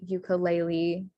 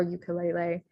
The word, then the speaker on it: ukulele: So in Hawaiian, the A sound is spelled with an E. So wahine, ukulele or ukulele, and then mele all have that A sound.